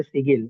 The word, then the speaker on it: sigil: कि आपने बताया जो सिगिल, दिस इज सिगिल ना? सी आई जी जी जी। आई एल सर ये इसके दो राइट? नाम है, कोई इसे सिगिल कहता है, कोई इसे सिजल कहता है।